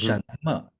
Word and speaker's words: 什么: 嗯哼，什么什么？什么什么？ Yes, that's right. 什嗯，么什么？